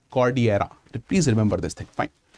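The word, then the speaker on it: Cordillera: नाउ इट is written as कॉर्डिलेरा बट इट is pronounced as कॉर्डियरा।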